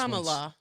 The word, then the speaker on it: Kamala: Kamala. Correct. Kamala, right? Kamala? Kamala. I think Kamala? it says Kamala. So KAHMAHLAH is how they have it broken down by syllables.